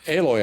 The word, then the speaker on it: Aloy: be like well i'm just going to say aloy i think yeah yeah so it's not halo